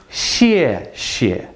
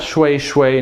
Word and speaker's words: 谢谢: 谢谢. 谢谢. 谢谢. So again, that's 谢. 谢. This one is fourth tone. This one is neutral. So thank you. 谢谢. Not shui shui, not shi shi, not shu shu.